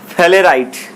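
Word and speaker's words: sphalerite: तो देखिए zinc blende बोलिए, जिंक ब्लेंड को बोलते हैं हम लोग फेलेराइट, क्या बोलते हैं, फेलेराइट, एस यहाँ साइलेंट रहेगा, इसको क्या बोलेंगे, फेलेराइट।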